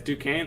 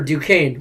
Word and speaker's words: Duquesne: richie good job duquesne uh that's how you pronounce it yes duquesne okay i didn't know because it's an f that sounds way better duquesne way easier than it looks fair enough uh